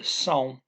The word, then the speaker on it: são: I have the são, kind of rhymes with cow. Then you have a nasal N. You don't actually say the N, right? São.